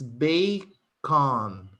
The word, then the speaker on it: bacon: because of this vcv this first letter is pronounced like in the alphabet and in the alphabet the english alphabet of course a we pronounce a so it's bakon understand yes so of